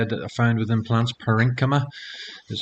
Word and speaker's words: parenchyma: tissues i'd say that are found within plants parenchyma is how you pronounce that and then these little fibers as